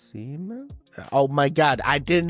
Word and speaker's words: Siemens: Siemens, what are you doing, buddy?